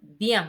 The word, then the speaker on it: bien: It's kind of like you're saying Ian, Ian, Ian together, right? So examples are chien and bien.